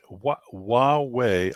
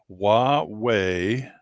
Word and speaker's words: Huawei: But Windows, Android, and Linux are all being dumped by the Hawaii Huawei. I have to constantly remind myself how to pronounce that. Huawei, which is a hardware company over there in